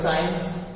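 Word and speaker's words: science: होगा तो सी साइलेंट example देख सी के बाद आई ई मिला आपको सी के बाद आईई मिला इसका मतलब सी साइलेंट आप इसको पढ़ेंगे साइंस साइंस मीस होता है विज्ञान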